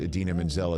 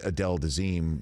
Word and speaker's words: Idina Menzel: And he was again wondering why the guy who pronounced Idina Menzel as Adele Dazeem was looking so young in this film.